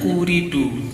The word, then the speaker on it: Ooredoo: gitu baca hejaz akan Inggris ini bacanya uridu tapi beredar di Indonesia produknya yo opo maksude kalau saya ada Oh maksudnya itu kan dalam bahasa Arab uridu aku mau Hai jadi